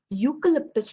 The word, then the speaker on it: eucalyptus: She has planted a eucalyptus tree. Here, a you. Why I'm saying you? Because here the pronunciation is not you. The pronunciation is y. You. Okay. Eucalyptus tree. That's why it becomes a.